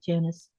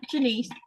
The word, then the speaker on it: Janice: because it says Janice. Yep. But it's not pronounced like Janice. Okay. All right. Because I kept getting confused. I'm like, who is she talking about this? Yeah. Jenise.